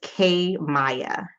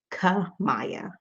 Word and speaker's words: Kamaya: It's K Maya. Beautiful. Thank you for correcting me. K Maya, actually. No, and I still said it wrong. Ka Maya.